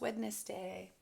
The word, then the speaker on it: Wednesday: my learn from the pandemic is how to pronounce witness day capital w e d n e s d